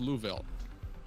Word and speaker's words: Louisville: Louisville. It's pronounced Louville.